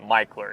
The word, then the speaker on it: Mickler: Street and michler now it's actually written Mickler but everyone that's from here pronounces it micheler it doesn't make any sense to me but it is what it is this neighborhood